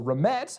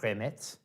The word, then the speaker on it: Remette: So remmet I have found out is a variation on a word I want to say it's pronounced remmet. I could be wrong. It's a French word which my understanding I'm